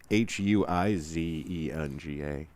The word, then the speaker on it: Huizenga: It's actually Huizenga. Yep, Herzinga. Herzinga.